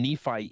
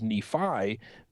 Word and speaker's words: Nephi: have pronounced this as Nephi, but sometimes the I on the end of Nephi can be pronounced as an E, as a long E.